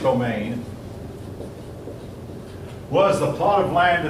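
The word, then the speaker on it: demesne: D M N C it looks but it's pronounced domain was the plot of land that the Lord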